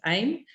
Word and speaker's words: AIM: So he has a business called AIM, or pronounced AIM, which is Automatic Internet Millionaire.